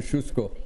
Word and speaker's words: Kosciuszko: It's pronounced know, Kosciuszko.